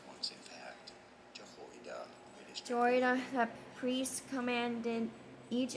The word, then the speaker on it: Jehoiada: So to say more interesting and often confusing biblical names, some of the most mispronounced ones, in fact. Jehoiada, Jehoiada the priest commanded each of them to